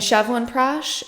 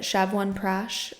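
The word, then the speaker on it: Chyawanprash: it every day and chevan prash that's how you pronounce it shevan prash um trying to see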